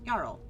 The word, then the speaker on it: Jarl: And then we went to talk to Jarl, and Jarl, that's how you spell it. Jarl, say it, it's Jarl.